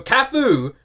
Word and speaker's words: KAF: I just Googled what virtual artist was and KAF came up and it said pronounced KAF as in with a U.